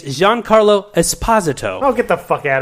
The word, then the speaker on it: Giancarlo Esposito: I'm here to tell you, he also mispronounces his fucking name. How do we say it? It's Giancarlo Esposito.